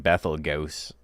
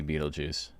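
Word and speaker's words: Betelgeuse: It's like Bethl Gos, but it's supposed to be Beetlejuice.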